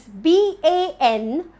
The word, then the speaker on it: banquet: Let's move on to the next word, which is BANQUET. BANQUET. How do I pronounce this correctly? It's banquet. The right way to pronounce this word is banquet. The stress is on bang.